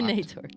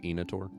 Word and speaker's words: Inator: a nator on it is it nature it's pronounced enator thank you easy blocked